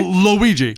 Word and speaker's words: Luigi: My dad's name is Ouija? Luigi.